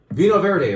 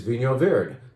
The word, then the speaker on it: Vinho Verde: Vino Verde, right?